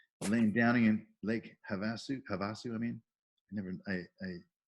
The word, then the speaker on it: Havasu: downing in Lake Havasu Havasu I mean I never pronounce that out loud I've only heard people pronounce it about you it's have to have a suit have a suit now I know thank you precinct committee